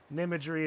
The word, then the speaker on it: Nimery: opportunity to hit respect nimery is Nim and imagery yep it took me